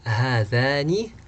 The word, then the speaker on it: هذان: And again, this alif here is pronounced but it's not written.